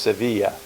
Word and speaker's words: Sevilla: we've arrived in Sevilla it's spelled Seville but it's pronounced Sevilla this is the largest